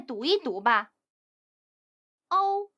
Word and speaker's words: 猫: Please read with me: m, ao, mao; m, ao, mao. 声母轻读，韵母响亮。 Initials are pronounced lightly, finals are pronounced loudly.